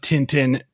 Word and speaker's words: Tintin: I mean, like, okay, I'm going to say it once like that because that's the proper French way of saying it. It's a Belgian-French cartoon.